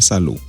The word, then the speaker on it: salud: Y en buena salud. Ou pas prononcer D final là dans salud. Salud.